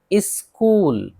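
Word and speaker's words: school: जैसे मिसाल देख लेते हैं सबकी, स्कूल एच है नहीं पढ़ रहे हैं, स्कूल मदरसा।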